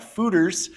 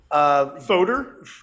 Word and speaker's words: foeder: But there's been a little bit of talk about foeders, and those are very large oak. Foeder? The word looks like foeder, but it is pronounced foeder.